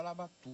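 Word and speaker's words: Labatut: chamava na época e chamava labatu e chamava labatu não era labat não é porque a pronúncia lá francesa é la bati mas ele dizia Olha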